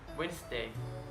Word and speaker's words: Wednesday: letter D can be selling too for example Wednesday handsome sandwich I'm not pronouncing they in sandwich but I'm just financing